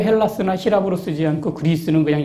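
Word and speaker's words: Ἑλλάς: 그래서 제가 비워 그 희랍 사람들은요 자기네 나라를 헬라스 불러요 혹은 h 발음이 약해지고 좀 다른 형태를 써서 엘라다 부르기도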